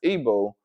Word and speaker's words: Igbo: It says the largest group of Nigerian Jews is made up of the members of the Igbo pronounced Ebo um tribe.